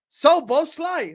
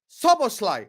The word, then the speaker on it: Szoboszlai: You keep saying I pronounce his name wrong. I don't pronounce his name wrong. Szoboszlai. That's it, done. Dominik Szoboszlai. I've said it correct this entire stream.